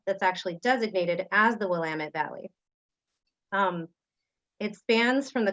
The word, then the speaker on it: Willamette: of this area and it goes like this it's willamette damn it that's it but this